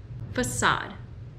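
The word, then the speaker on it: façade: Y esta de aquí, una palabra que no se usa muy comúnmente, pero si sabes cómo pronunciar esta palabra, creo que tu inglés es súper avanzado. Quiere decir fachada. Facade.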